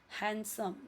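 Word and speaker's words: handsome: हैंडसम यहां पे D silent है।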